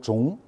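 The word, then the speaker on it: 中: Et c'est le même caractère que la Chine, Zhongguo, la première zhong, mais on prononce plutôt zhong.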